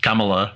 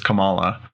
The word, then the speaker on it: Kamala: Well, and it's funny because in the trailers they make somebody gets her name, pronounces it wrong, and says Kamala. She's like, no, it's Kamala.